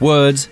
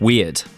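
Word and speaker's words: Wyrd: And yes, that is how you pronounce it. It's Web of Words, not Web of Weird.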